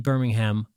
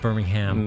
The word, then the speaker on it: Birmingham: Oh, is it not Birmingham? No, Birmingham? not in this country. How do you say? Is it Birmingham? Birmingham. Oh, Birmingham. You got to say it with a slight whine.